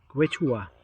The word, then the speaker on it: Quechua: Quechua. That's how it's pronounced.